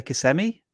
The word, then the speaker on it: Kissimmee: to do in there how do you pronounce that i say kissimmee when i was when i was like 10 years old i used to say kissimmee that's me yeah yeah yeah i guess me mario says all right well uh